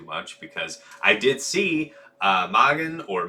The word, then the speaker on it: Mågen: to say too much because I did see Mågen or Megan is following the stream now. So yeah, you're talking. I pronounced it correctly the first time, Lord Ryan.